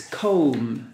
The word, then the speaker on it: comb: remember that word it's comb letter B is silent poem and this one